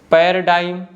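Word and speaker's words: paradigm: है जैसे कि डायाफ्राम पैराडाइम पैराडाइम में देखिए जो लेटर ए है ना य ऑलमोस्ट साइलेंट है और जी भी साइलेंट है नेक्स्ट वन है डिजाइन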